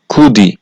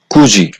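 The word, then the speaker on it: 굳이: উচ্চারিত হবে যেমন খুঁজি এই খুঁজি শব্দটার নিচে বাচ্চিমে আছে দ্বিগুত আর এই দ্বিগুত বাচ্চিমের পরে আছে স্বরবর্ণ ই শব্দটার উচ্চারণ হওয়ার কথা ছিল কুদি কিন্তু বাচ্চিমের রুলস অনুযায়ী যেহেতু বাচ্চিমে আছে দ্বিগুত বাচ্চিমের পরে স্বরবর্ণ ই থাকলে দ্বিগুটা জিউদ হবে এজন্য এই শব্দটার সঠিক উচ্চারণ হয়েছে খুঁজি এরপরে হচ্ছে মাছি এই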